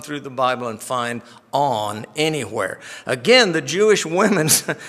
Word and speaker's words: On: discovered that it's pronounced on you know big deal right I thought surely this little two-letter word has to have some real weird pronunciation but it doesn't it's just on so um the Jewish